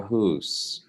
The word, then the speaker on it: Haas: So we took the German pronunciation of Hus until World War II, when my grandfather went and fought in the Japanese theater. And then suddenly we were Dutch and it was Hos. So Hos. I don't know.